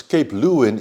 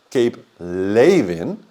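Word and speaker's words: Cape Leeuwin: it is actually pronounced Cape lein because that's a Dutch name it's a Dutch word it was named by the Dutch we Dutch were there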